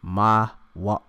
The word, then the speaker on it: Moab: All right, when you go into it, Moab, how you of course pronounce it in the Hebrew, all right, because it's Ma'awab, all right, Mawab, all right, Mawab, all